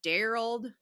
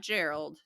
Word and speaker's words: Darald: 21-year-old Georgia Boyd meet darald not Gerald darald ta not Tracy tacy I will definitely say